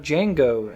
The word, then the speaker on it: Django: uh we're talking about django and that and if you didn't know the d is silent and that's jingo and chain to be yes django unchained and um my initial